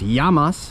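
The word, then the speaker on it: γεια μας: And of course, yamas, which means cheers.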